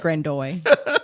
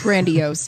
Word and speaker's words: grandiose: It's grandiose, dear. I didn't say grandiose. You said grandoise.